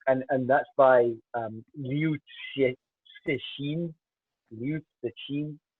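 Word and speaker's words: 刘慈欣: Liu Cixin. I got one of my Chinese colleagues to help me with the pronunciation there.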